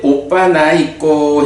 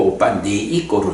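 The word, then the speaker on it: opanayiko: 와서 보라는 법이다 그런 거고요 그 다음에 이제 오빠 나 있고 했는데 요게 요렇게 적었는데 제가 이런 책을 쓸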